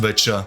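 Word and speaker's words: Wicca: It served as a prototype for later organizations like Telema and Witcher, and yes, it's pronounced Witcher.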